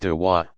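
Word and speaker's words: دعوة: Proselytizing is called inviting, dwa, pronounced dawa, others to join the community of Islam.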